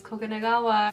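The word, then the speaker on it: 黄金川: He's like, it's Koganegawa.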